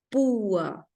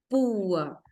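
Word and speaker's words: púa: fuerte con una débil y si se carga la voz en la débil por ejemplo pua pua es medio evidente el iato de que se separan en sílabas distintas verdad Ahora miren también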